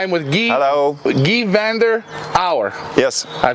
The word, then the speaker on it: Van der Auwera: with gee hello gee Vander our yes I pronounced it right it's a Flemish name it's very difficult Ryan but no problem